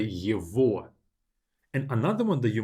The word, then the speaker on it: его: Two exceptions when it's not at the end of the adjective is его for him. I don't say его, I say его.